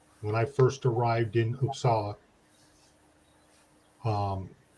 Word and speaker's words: Uppsala: i first arrived in usa um even though it's spelled with a u it's an ah i thought it was